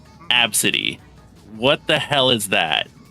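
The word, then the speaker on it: Abcde: name was spelled AB bcde e and it's pronounced absity what the hell is that you're just asking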